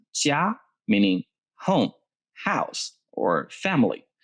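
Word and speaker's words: 家: let's see another thing with popcaito this is pronounced jia meaning home house or family this is very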